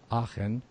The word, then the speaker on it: Aachen: We have Patrick and Rosa Engle, and I'm going to try and pronounce this correctly. Aachen.